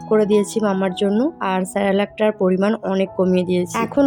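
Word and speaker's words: Cerelac: মাঝেমধ্যে বানিয়ে দিই আচ্ছা আমি যেটাকে সেরালাক সেরালাক করছি উচ্চারণটা হচ্ছে সেরেলাক তো আমি ওটা মানে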